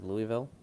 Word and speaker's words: Louisville: I would bet or Louisville personally just I mean consider also just so you all know it's not pronounced Louisville but proceed.